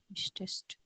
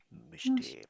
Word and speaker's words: möchte: Möchtest. Er, sie, es, he, she, it. Oder eine Singularname, कोई Singular Name भी हो सकता है. Zum Beispiel Matteo. Matteo German सीखना चाहता है. Matteo most, möchte.